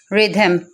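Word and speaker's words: rhythm: Next है रिदम, रिदम में क्या हो रहा है, एच को हमने आर की वजह से साइलेंट कर दिया। नेक्स्ट है राइनोसिरस, राइनोसिरस में क्या है, आर है पहले, इसलिए हमने एच को साइलेंट कर दिया।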